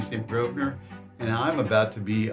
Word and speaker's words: Grosvenor: It's a silent S because everybody's always saying Groveser. They do. And I'll say it's Groner.